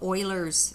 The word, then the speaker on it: Euler: It's called Euler's constant. It's also referred to as little e. It's pronounced Euler. Don't pronounce it Euler. That's not the correct way to pronounce his name, this guy.